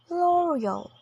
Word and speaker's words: L'Oreal: in the first syllable next is L'Oreal stressing the third syllable in both American and British English again laal next is PUO in